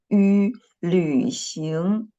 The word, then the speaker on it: 旅行: 旅行旅行旅行 yes, but you know the first syllable, the final of the first syllable is ü, not u, okay? Ü, I just used v to represent the letter ü, okay? 旅行 okay, next.